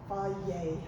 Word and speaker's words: Fage: Yeah, pronounced Fage.